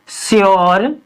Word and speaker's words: sure: तो ऐसे शब्दों में हम हमेशा यू का उच्चारण किससे करते हैं, यो से। जैसे श्योर, PURE, प्योर, यानी इसमें क्या है आर, इसमें